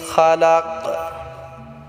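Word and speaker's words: خَلَقَ: রাহমানির রাহিম বিসমি রাব্বিকাল্লাজি খালাক এখানে আমরা বড় কাফ উচ্চারণ করব এটা ঝটকা দিয়ে উচ্চারণ করতে হবে অনেকে আছি আমরা বলি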